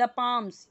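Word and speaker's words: palm: own sentences right the पाम्स पाम्स यानी क्या ये ये जो हथेलियां हैं इसको क्या बोलते हैं हथेली पाम पाल्म नहीं बोलेंगे ये साइलेंट है ठीक है हथेलियां हथेलियां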